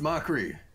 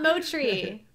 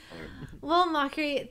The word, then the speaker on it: Mochrie: drill into people's minds it's pronounced mockery not mochi I thought it was